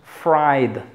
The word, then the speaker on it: fried: como que y mérida después tenemos fried fried esta es muy relajada cuando pronuncia es esta dice así como que hay hay de hecho aquí es el diptongo hay fried los diptongos se forman